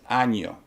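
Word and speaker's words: año: in the sense of the word uh year for instance in spanish says anyo if you don't pronounce the anya it's a totally different word and i will not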